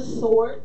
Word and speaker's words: sword: It says, "And take the helmet of salvation and the sword of the Spirit." The W is silent, people.